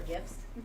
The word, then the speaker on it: GIF: I circled back to my dislike of the soft G for gifts. She's like, what? Yes, it's not Jif. Jif is peanut butter. I don't care that it's only an American brand. GIF are the funny things that we send back